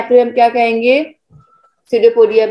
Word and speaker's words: pseudopodia: Unicellular organism produced through the process is called answer cell division pseudopodia नहीं, P silent रहेगा बच्चा, pseudopodia।